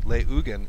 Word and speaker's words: Leugen: So I've been pronouncing it incorrectly. Leugen is how you pronounce Kyle's last name.